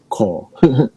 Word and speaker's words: Corps: How do you pronounce CORPS? Core.